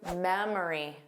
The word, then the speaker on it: memory: Let's review memory. Memory. Well, it's that middle sound. But again, same as before, you will commonly hear this as three sounds, but the middle sound is the schwah.